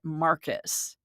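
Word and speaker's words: Marquis: M A R Q U I S, but the spirit is pronouncing it Marcus, which is interesting.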